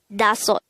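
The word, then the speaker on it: 다섯: Next, the native Korean version of number 5 is dasot. Pronounce it with me. Dasot. This is composed of two syllables. The first syllable is da, the second syllable is sot. Again, it's dasot.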